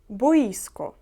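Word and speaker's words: boisko: стадіон далі футбольне поле боїско наголос на і бої ско трохи дивне слово футбольне поле далі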